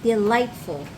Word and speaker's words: delightful: What's the silent What are the silent consonants in that word? Gh.